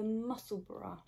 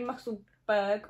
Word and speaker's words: Musselburgh: So I've cast on the Musselburra. I think that's how you say it. People say Musselburgh or Musselburra. Well, it's like Edinburgh. Yeah, Musselburra.